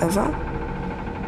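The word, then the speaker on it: Ewa: a lifeless machine besides eva is spelled e w a not e v e i thought we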